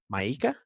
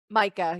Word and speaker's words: Micah: that the main character, which I don't know if I'm going to pronounce the name right, is it Maika? Micah, yeah. Micah, I love that she says, "Micah is a survivor.